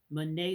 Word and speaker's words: Bonnet: life and that one thing is called Charles Mane syndrome and it's French so that means it's spelled Charles Bonnet syndrome remember that Bonnet it's